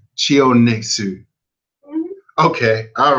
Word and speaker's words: Chionesu: Just break it in syllables. It's Chionesu. Chionexu.